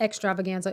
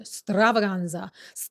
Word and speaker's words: Stravaganza: It's not extravaganza. It's called Green Stravaganza. I always want to say it like that.